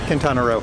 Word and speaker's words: Quintana Roo: Quintana Roo. I want to say it like Roo, like kangaroo.